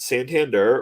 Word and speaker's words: Santander: Alonzo s sander uh is it Santander or sander it's sand like the bank oh okay I've never